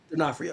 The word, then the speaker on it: D'Onofrio: D'Onofrio.